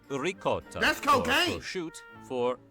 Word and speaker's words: ricotta: Take, for example, rigat for ricotta.